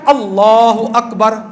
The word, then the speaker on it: اللہ اکبر: ان میں سے ایک یہ ہے کہ ان کے تلفظ کو صحیح ادا کرنا. اب تکبیر ہے کیا؟ تکبیر ہے اللہ اکبر.